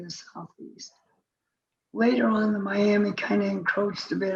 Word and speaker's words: Miami: That's how it's actually pronounced, Miami Confederacy.